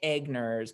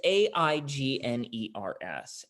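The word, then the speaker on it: Aigner's: I always say it wrong. I say Agners, but I think it's Agners. It's Aigners. And they've been around for like however long a chocolatier can be around, 500 years.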